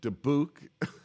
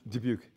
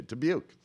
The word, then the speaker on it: Dubuque: Dayton, Bulgaria, Germany, Hawaii, Dubuque. Did I pronounce that? No. Dubuque. I'm so sorry. How do you pronounce that? Dubuque. Okay, Dubuque.